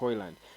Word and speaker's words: Højlund: we wanted to be sure that it's Rasmus oil and who would be by the way I learned that that is the right pronunciation of according to the dance uh Rasmus